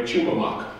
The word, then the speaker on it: Tumamoc: pronounced by the way chumak that's the way the the odm people say tum and they nestled of